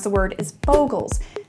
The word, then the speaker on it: Bogles: out of the way up top I say boggles I say it that way because that's how I learn to say it it's also adorable I know the technically correct way to pronounce the word is bogles say it however you like you do you